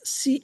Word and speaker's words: Schenck: It's Schenck, or pronounced Shank or Shank.